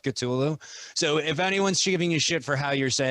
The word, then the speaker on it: Cthulhu: real real quick okay you're not supposed to be able to say it right because it's like katulu where if you could actually say the word you'd go insane because chathan's supposed to be based off cthulhu so if anyone's giving